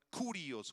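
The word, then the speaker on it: κύριος: señor es la palabra curios con k y acento en la o curios Y esa palabra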